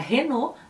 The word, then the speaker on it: Renault: O L geralmente tem o som de L. Então, a marca Renault passa a ser Renault.